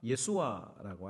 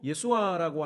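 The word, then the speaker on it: ישוע: 여기 예수라고 하는 그 히브리어는 우리가 잘 알고 있는 것처럼 뭡니까? 예수아라고 하는 발음으로 어 소리를 냅니다. 그리고 예수아라고 하는 그 뜻은 구원자라고 하는 뜻이에요.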